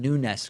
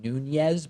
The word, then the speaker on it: Nunes: memo drama is that people just can't seem to pronounce Devin Nunes correctly. No, I'm kidding. That is a frustration, people calling him Nunez. But of course, when you see those typically Spanish names with an S on the end, that's like the Portuguese version of those names.